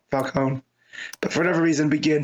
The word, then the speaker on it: Falcone: know just traditionally that that name is pronounced like that you know Falone but for whatever reason begin hit it with the Falcone I don't know it's